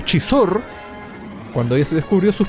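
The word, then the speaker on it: Xizor: de ellas, está la entrada al palacio de Sizor. Chizor, ahí está, Chizor, se pronuncia Chizor.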